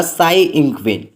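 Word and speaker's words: Tsai Ing-wen: तो इसका A option से होगा, साई इंगवेन। गाइस यहाँ पे टी साइलेंट रहता है।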